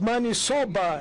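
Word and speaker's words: maniçoba: Maybe the best fish and do not forget to eat man sobba. the interpreter could interpret it correctly because it's money soba as you pronounce it and there's a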